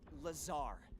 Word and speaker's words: Lazar: Researcher Blazer Rangers, this is laser blazer. Laser blazer researcher in our R&D department and it sales sells the weapons too. It's Lazar actually the accent on the but yes I'm your pop for R&D point of purchase.